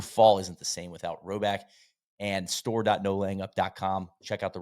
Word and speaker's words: Rhoback: So the Roback crew necks, I think, are a favorite of the squad too.